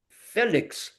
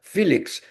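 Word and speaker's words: Félix: But you remember that in 1970, when Brazil won the World Cup, Felix, as Brazilians pronounce it, or Felix, as the English people pronounce it, was considered a very bad goalkeeper.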